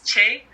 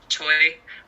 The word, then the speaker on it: Choi: It's Che in Korean. She's Korean American, or if she goes by the Americanized way of Choi.